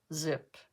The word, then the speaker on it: Xyp: never remember that one ZIP xyp is pronounce zip okay um let's try